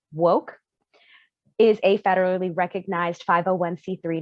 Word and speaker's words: WOCC: color in cannabis uh wocc pronounced woke is a federally recognized